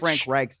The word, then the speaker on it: Frank Reich: Frank Reich the next day and then also mispronouncing Frank reich's name Frank Reich get it right Frank yeah